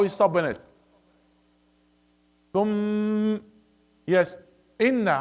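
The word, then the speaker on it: إنَّ: Inna, in. Okay. One of the common mistake, a lot, see, when they pronounce the inna, they close their lips. That's wrong. Why you close your lips for inna?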